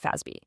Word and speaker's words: FASB: Most of us just call them the FASB, pronounced FASB.